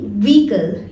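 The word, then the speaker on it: vehicle: Don't get ऑफ द bus till it stops, gate of मतलब किसी भी व्हीकल से उतरना, व्हीकल, व्हीकल नहीं व्हीकल, इसमें एच लेटर साइलेंट है, तो आप इसको बोलें व्हीकल।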